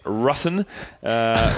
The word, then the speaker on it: Rusin: We just clarified the pronunciation of the name, and it is definitely Rusin, which I'm glad to have got that off my chest, because I would have stuffed it up off the bat.